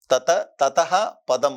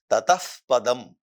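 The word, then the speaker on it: ततः पदम्: ததஹ பதம் அப்படின்னு சொல்லக்கூடாது, ததஃப் பதம் அப்படின்னு சொல்லணும்.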